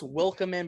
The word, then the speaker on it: Wikelman: There's not an L before the K, but it's pronounced like there is an L before.